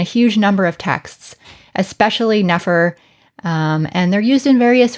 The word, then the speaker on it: nfr: the sounds n f r which today we pronounce as nefer this is usually translated as good beautiful or perfect now both of these words of course are used in a huge number of texts especially nefer and they're used in various ways but today